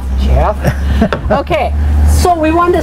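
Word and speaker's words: Geoff: It's spelled no, it's G-E-O-F-F, and they pronounce it Jeff. All right. Jeff.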